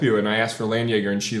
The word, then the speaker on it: Landjäger: Landjäger. Yeah. It's like... Landjäger. It's like Jaeger. It's like but not Jägermeister. liquid.